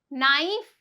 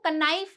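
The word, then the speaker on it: knife: रही है नाइन नाइफ नाइफ यहां पे इसको क नाइफ नहीं बोलते हैं है ना कुछ लोग मैंने देखा कनाइल है यहां पे के साइलेंट है इसे एन से शुरू करेंगे अब जब के साइलेंट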